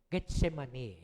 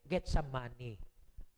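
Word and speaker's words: Gethsemane: eh get si money baka mamaya mabanggit natin get some money mali po ion Hindi po yunan pronunciation an hindi get some money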